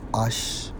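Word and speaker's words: אֵשׁ: And to prove that point, when we examine fire in the Hebrew 784, pronounced as Ash.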